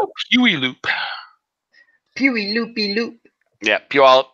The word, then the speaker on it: Puyallup: I'm not even going to try to pronounce that. Oh, Puyallup. Yep. He's actually a little bit further south from me. Yep, I know Puyallup well.